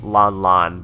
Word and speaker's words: Ran Ran: If I remember correctly, Rebirth 1, there was a character named Lon Lon, or pronounced Lon Lon, but it was written as Ran Ran.